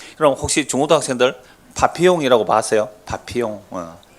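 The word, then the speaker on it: Papillon: 파피용. 빠삐용이 아니고 원래 발음 파피용입니다.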